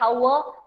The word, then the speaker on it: hour: Though it should be said hour, but we never say it hour, we say it hour, hour. H is not pronounced, H is not pronounced.